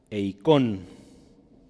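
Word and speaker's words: εἰκών: Esta palabra es eikon, con acento en la O, y significa imagen, figura y ¿qué más?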